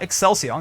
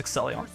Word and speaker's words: Exelion: I said their name wrong last time. It's not Excelsior, it's Exelion.